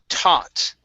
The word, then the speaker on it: taught: uh next up is taught okay now here the a that's only going to be an a sound so the uh G GH here does not make a sound okay TT T all